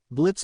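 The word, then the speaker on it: Blitzø: My name is Blitz, and the O is silent.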